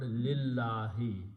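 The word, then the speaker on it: لله: So when you read them together, you do not pronounce this alif, you pronounce the word lillahi, and you write down this lam here, lil lam, this one, and alif is not written.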